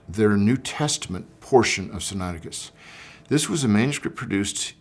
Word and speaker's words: Sinaiticus: What is Codex Sinaiticus, or sometimes pronounced Sinaiticus?